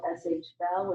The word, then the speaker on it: SH Bell: These are folks from the neighborhood who, one of the companies is called SH Bell, which rhymes with hell.